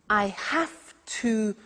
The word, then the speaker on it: have to: Notice I don't say V, I say F. Have. It becomes have to. Have to becomes in pronunciation have to.